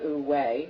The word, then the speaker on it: wu-wei: So, talk a little bit about, for folks who don't understand wu-wei, which is spelled W-U-W-E-I.